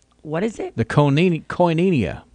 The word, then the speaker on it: Koinonia: I can't find it anyway it is the Koinonia what is it the canina Koinonia Koinonia yeah kay oh I in O in I